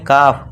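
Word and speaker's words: calf: इस तरह ए के बाद एल है, इसे क्या पढ़ेंगे, काफ, काल्फ नहीं।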